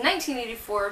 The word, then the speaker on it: 1Q84: choose 1q84 is that spelled but it's actually pronounced in 1984 because of the Japanese pronunciation by haruki murakami